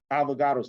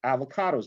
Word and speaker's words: Avogadro: It's also called Avogadro's number. A lot of people will call it avocado's number because you remember an avocado, but Avogadro is kind of hard to remember, right?